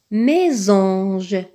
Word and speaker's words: mésange: Mésange, mésange. Dans mésange, on voit un S. Ce S, on voit qu'il est placé entre deux voyelles, le E accent aigu et le A.